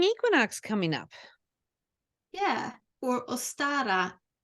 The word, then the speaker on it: Ostara: coming up yeah or ostara say say it again it's o-s-t-a-r-a interesting how do you say it in in Swedish I think I think I would say ustara okay all right same